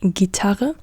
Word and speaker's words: Gitarre: Giraffe, guitar is Gitarre.